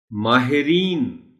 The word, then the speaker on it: ماہرین: صحیح لفظ ہے اتارد۔ ماہرین، ہے کے نیچے زیر ہے۔ اب یہ لفظ بھی